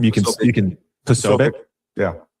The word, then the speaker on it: Posobiec: How do you pronounce his last name? You can Posobiec.